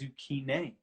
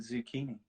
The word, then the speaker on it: zucchine: Interestingly, an Italian person corrected me the other day and said it's zucchine. Oh. And that the Americans got it twisted and called it zucchini.